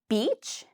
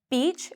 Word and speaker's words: beach: So the main difference between beach and bitch is beach, we say longer. It's a long E sound.